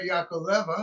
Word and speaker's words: Yakovleva: This is Yakva. Is that right? Yes. Thank you. you pronounce my last name correctly.